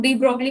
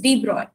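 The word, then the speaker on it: de Broglie: फिर 1925 में आए डी ब्रॉय, जिन्हें तुम लोग डी ब्रॉगली बोलते हो, विच इज रॉन्ग प्रोनाउंसिएशन क्योंकि ये फ्रेंच थे और इनके मतलब ये काफी सॉफ्ट लैंग्वेज है, तो इट इज डी ब्रॉय।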